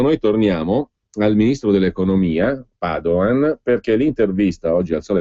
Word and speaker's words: Padoan: Il ministro Padoan, che non ha alcuna lontana origine veneta per cui si pronuncia Padoan e non Padoan, sia ben chiaro, perché